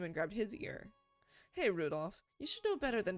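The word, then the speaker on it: Rudolf: it can you anyway this guy's name is pronounced Rudolph he must hate grandfather for giving him that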